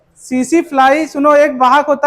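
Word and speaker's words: tsetse: टीसी टीसी नहीं होता सीसी फ्लाई होता है। टी साइलेंट है।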